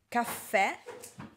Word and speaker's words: caffè: Allora, caffè, caffè, caffè. Vedete la mia bocca si apre, caffè. Perché? Perché? Perché? Caffè. Perché? Il suono è diverso, ok?